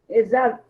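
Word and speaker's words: עֵשָׂו: Esav. Sempre som de S, tá? O Sin e o Summer sempre tem som de S, nunca de Z.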